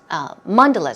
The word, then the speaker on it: mandalas: windows and then she says with the mandela's mandalas sorry stress goes there Mondelez was a word